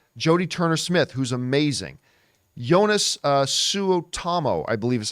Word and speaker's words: Suotamo: Jonas Suotamo, I believe is how you say his name.